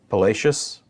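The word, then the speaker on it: Palacios: of the North again I've heard this pronounced a few different ways I apologize it's palacious 40 the buoy just east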